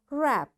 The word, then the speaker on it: wrap: Wrist, wrestling, wrong, ran, wrinkle, rack, wrap, wrench. You see, in all these words, because W is followed, after W there is R, so we don't pronounce this W.